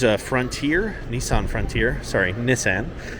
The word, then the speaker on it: Nissan: frontier Nissan Frontier sorry Nissan so people are going to be like that's not how you pronounce it that's how they pronounce it in Japan where it's from um wow nice little